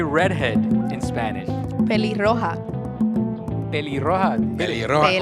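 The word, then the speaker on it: pelirroja: Peli-roja. Peli-roja. Peli-roja. Almost Peli-roja. like peligrosa.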